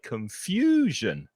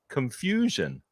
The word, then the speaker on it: confusion: not the stressed syllable there are three syllables confusion and it's the middle the middle syllable that's stressed so we say confusion confusion and also notice that